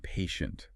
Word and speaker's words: patient: Short O like in hot or log and patient. Patient. The ending sound. Eat. Dan. Sounds like shunt. Patient like nation. Station.